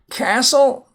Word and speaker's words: castle: Castle, silent T.